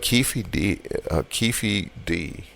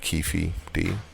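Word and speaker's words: Keffe D: he probably did but keithy d I'll tell you pronounce it keefi D um said that he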